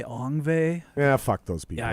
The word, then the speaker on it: Yngwie: Some people say Yngwie.